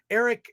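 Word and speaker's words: Airk: brother uh his name is Eric Eric but it's spelled a-i-r-k Eric is played by Dempsey Burke and he's just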